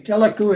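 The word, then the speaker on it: TELACU: Telecu is spelled T-E-L-A-C-U, if you want to look it up.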